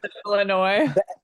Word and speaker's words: Illinois: Yeah, Illinois. The S is silent.